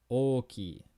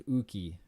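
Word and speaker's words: 大きい: any time for hiragana, I don't want to hear you pronounce this as uki. All right? Knock it off. In Japanese, o is always o, right? It's always the o.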